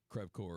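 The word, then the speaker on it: crève-cœur: I wouldn't say it like I'm saying it in French. I would say it Americanized like crève core or something like that.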